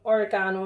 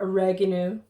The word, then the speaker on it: oregano: and then you want some oregano as well or oregano as americans say and then you can